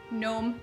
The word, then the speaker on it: gnome: be careful with this one you do not pronounce the first G and gnome it's just gnome as if there is no Jeep here they